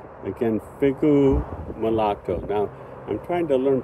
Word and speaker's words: figo: flavor I'd say again figu now I'm trying to learn Portuguese and I would say Figo previously but um the O should be pronounced as U so figu mulatu and look at the